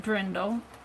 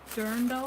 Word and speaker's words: dirndl: dresses and my uh not drindle dirndo d-i-r dirndl i think you'll pronounce it and i'm still doing